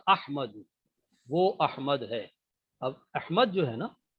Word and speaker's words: احمد: وہ احمد ہے۔ اب احمد جو ہے نا، صحیح تلفظ احمد ہوتا ہے، تو احمد جو ہے